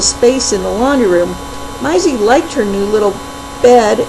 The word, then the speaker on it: Maizzy: granka what is it myy spelled like Daisy but pronounced like Maya and Isaac whose nickname is isy put together shouted Min Pearl I